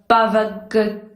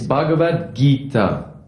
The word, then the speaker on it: Bhagavad Gita: great authors with the Bagita? I'm sorry. I know I'm not pronouncing that that name right. Your attempt at pronouncing the Sanskrit language was noble. It's Bhagavad Gita.